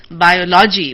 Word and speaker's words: biology: And they shouldn't say biology, but they should say biology.